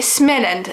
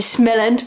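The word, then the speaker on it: Småland: sais pas comment prononce moi je dis ce mélange parce qu'il y a un rond sur le a ou small lunch si je le devais le dire à l'anglaise c'est l'espèce de petite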